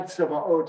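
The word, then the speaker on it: צבאות: Adonai Tzevaot is how this one is usually pronounced, the God of hosts.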